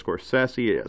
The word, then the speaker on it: Scorsese: People say Scorsese, he says Scorsese, so I always try to say it right, Scorsese.